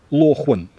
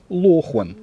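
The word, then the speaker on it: 裸婚: мы это как мы эта фраза звучит как Лохан Лохан вот так она пишется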